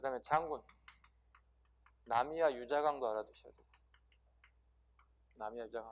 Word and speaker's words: 남이: 네, 조부님이 이제 이름 발음 잘해야 되겠 남희, 여기는 남이. 네, 남이와 그 다음에 넷째 딸이 결혼했어요.